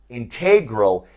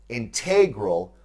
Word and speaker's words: integral: Now, before we continue, I must note that integral is one of those English words that has multiple pronunciations. You can say it as I just have, integral, or you can say integral.